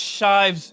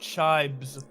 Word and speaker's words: Shives: I think it's Shives, not Shibes.